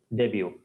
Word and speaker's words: debut: attempt means first attempt the pronunciation is not debut debut this is similar to but pronunciation silent similarly this one is